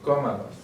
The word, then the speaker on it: cómalos: And we want to keep that as the stressed syllable, so we have to do an accent.